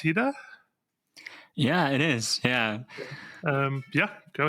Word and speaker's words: Hida: So Hida, is it pronounced Hida?